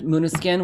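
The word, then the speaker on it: Måneskin: italian uh glam band muna skin which is spelled like main skin yeah um so i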